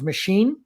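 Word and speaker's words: Machín: done extremely well um last name is machine like a machine and that's how it's pronounced and he hadit a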